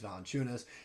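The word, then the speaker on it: Valančiūnas: I got it right this time with Jonas Valanciunas.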